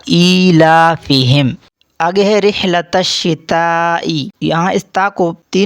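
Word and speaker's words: إِيلَافِهِمْ: Number 2، اکثر لوگ ای کو اے کر کے پڑھتے ہیں جو کہ مجہول ہے. ایلا غلط ہوگا، درست تلفظ ہوگا ایلافہم.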